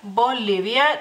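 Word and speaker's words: Bolivija: Bolivia también pueden escuchar que la I, por ejemplo, la pronuncio de otra manera, que aparece la J, pero en sí no cambia tantísimo, digamos así, es Bolivia y es en femenino.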